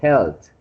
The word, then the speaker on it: health: Yes, they are talking about health. Health, okay? Okay, teacher. And the last is health. Yes, the last one they are talking about health. Health. Health. Just forget about the A. Just pronounce the E.